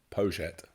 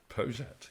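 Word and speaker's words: Poyet: know only too well gas poet yeah in arent in Uruguay where he's from poet poet yeah which even the Spanish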